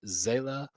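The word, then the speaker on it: Seele: I will say for Zela, that would actually make sense from the German perspective, like where because S's are pronounced like Z's in German.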